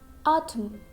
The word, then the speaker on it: autumn: Means letter N is silent when it comes at the end of the word and before letter M.